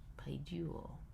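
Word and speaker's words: παιδεύω: And then we have the accent then will be on the second syllable, which is this diphthong u, paiduo.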